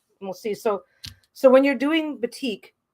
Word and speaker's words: batik: I used to hear it called batik or batik. It's actually pronounced batik, which I didn't know, but now I do, so I say it properly.